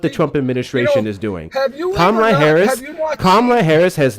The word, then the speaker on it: Kamala: Comma, like comma in a sentence. La is in la la la la la. It's really not hard. It comes out Kamala. I'm from I'm close to New York. No, pronunciations isn't necessarily an accent thing. Kamala. If you can literally say comma and you can say la, you can say Kamala.